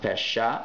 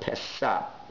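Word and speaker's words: פשע: It's not pronounced pesha, but pesa.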